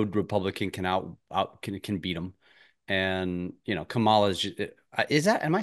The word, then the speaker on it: Kamala: And Kamala is that, am I saying it right? I can't even. Kamala? Yeah. Kamala, okay, Yeah.